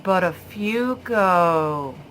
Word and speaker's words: Buttafuoco: And someone just leans over and whispers in his ear, and he says, oh, it's pronounced Buttafuoco.